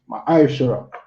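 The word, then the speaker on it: ma'aser: Means tenth in Hebrew and is pronounced ma'ashara.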